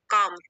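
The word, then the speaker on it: calm: ability to रिमन काम काम L silent है इसमें रिमन काम इन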